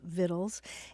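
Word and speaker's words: victuals: Journey with recipes and it's spelled VI c t u a LS vittles and it's a love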